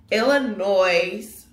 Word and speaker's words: Illinois: it's pronounced Illinoi but the S at the end is silent but I say Illinois